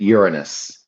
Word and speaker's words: Uranus: So, if you want to avoid saying your anus, which you know, we know what we're talking about here. You can pronounce it Uranus.